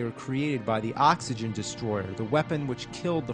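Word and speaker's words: Destoroyah: The name of the monster, surprisingly, isn't Destroyer, it's Destroyer. Yeah, that's the official name. Destroyer. It's spelled just like that.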